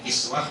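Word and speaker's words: كسوة: Bisa dibaca kiswah, bisa dibaca kuswah, tapi yang paling masyhur itu kuswah bacanya malah. Dan kita sering dengarnya malah kiswah.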